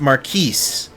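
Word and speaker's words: Marquess: Did you receive word from Marquee Austia? From Maris Austia, guys. All right. It's apparently pronounced Maris.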